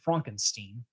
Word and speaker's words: Frankenstein: Or she pronounces it correctly, Frankenstein. It's actually the German pronunciation.